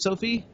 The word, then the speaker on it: Sophie: The first single that's been released off the soundtrack is by an artist named Sophie Tyler. Is that how I pronounce it, Sophie? Yep. You're doing great.